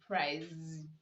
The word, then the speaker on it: praise: we have words like praise rows brows bruise and these words you are to pronounce the letter s making the sound z you don't say nose you don't say press you say praise so here are some